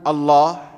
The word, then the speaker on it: Allah: Disebutkan dalam kitab tafsir Qur'anil Azim bahwasanya dalam bahasa Arab tidak ada alif dan al-lam, alif lam yang pengucapannya dengan tafkhim, dengan diberatkan pengucapannya dengan mengucapkan o, tidak ada kecuali dalam kosakata Allah.